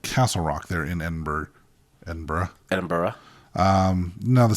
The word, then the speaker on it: Edinburgh: castle Edinburgh Castle Castle so this is the spelling is pretty strange cuz I would have said Edinburg that's how it's spelled that's how it's spelled and that's how it looks but that is not how they say it well have you've ever